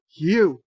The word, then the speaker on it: Hugh: Wesley says Hugh is pronounced with an H sound. Hugh.